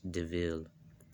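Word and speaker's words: De Vil: And then her friend's like, yeah, it's spelled devil, but it's pronounced DeVille.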